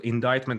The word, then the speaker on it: indictment: the that's the word indictment and it's a little bit hard to write so it's i-n-d-i-c-t uh the c is silent in between so many people get confused with that so he very well